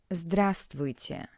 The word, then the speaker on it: здравствуйте: The formal way for the word hello is здравствуйте. Здравствуйте. Здравствуйте. As I already said, in Russian when reading all letters are pronounced. But this word is an exception. We don't pronounce the highlighted letter V.